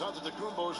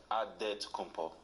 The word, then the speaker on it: Antetokounmpo: The Nigerian way, you gotta say it with a D, so it's Antetokounmpo. But in the Greek way, you say it with the NT, like Antetokounmpo.